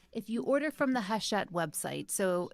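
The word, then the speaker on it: Hachette: mention this so if you order from the haset website so it's pronounced tet but it's spelled like hatchet with two e's and an e haset um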